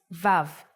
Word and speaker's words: Vav: the sixth letter is VAV the sound of VAV is V or o or oh and it's written like